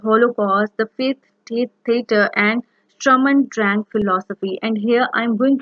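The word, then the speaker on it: Sturm und Drang: For example, the epic theater, the Holocaust, the faith theater, and Strum and Drang philosophy. And here I'm going to discuss Strum and Drang philosophy. The exact pronunciation is Strum und Drang philosophy.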